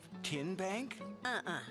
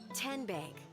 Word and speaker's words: TN Bank: Tin Bank? So what is it? 10 Bank. 10, as in Tennessee, right here where all our banking decisions are made.